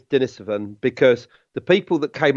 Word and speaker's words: Denisovan: conversation on this about whether it should be dinner 7 or Denisovans and the answer is Denis oven because the people that